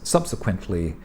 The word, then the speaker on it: subsequently: a linking word before subsequently subsequently one of these multi-syllable words subsequently uh be sure of the short be careful of the short e and their entry ently subsequently and also the short you like umbrella subsequently above all uh it's